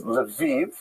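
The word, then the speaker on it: Lviv: uh this town here which is written in this map as Leviv Ukrainian pronunciation.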